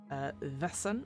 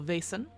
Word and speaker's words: Vaesen: But today we are looking at Vaesen, or Vaesen, depending on where you come from in terms of pronunciation, but Vaesen, the Nordic